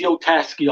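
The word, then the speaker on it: poliziotteschi: You call this Policio Teschi? Is that how you say it? Polizio Teschi, I would say, but Yeah.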